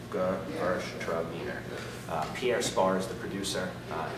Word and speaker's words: Gewürztraminer: Say it one more time, Gewürztraminer. Really take it slow and pronounce it that way. So it's Gewürztraminer.